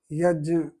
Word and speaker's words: यज्ञ: य को कुछ वैसे बोल सकते हैं जैसे जो सही उच्चारण इसका जो है यज्ञ इस तरह से है लेकिन मेरी जो इसको बोलने का अभ्यास है वो यज्ञ ही है।